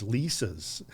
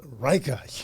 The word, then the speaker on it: Leica: These these these Lisas?" And the guy goes, in, you know, a heavy accent. He's like, "You're saying it wrong. It's Reicha," you know, and he goes, "Very expensive, very complicated.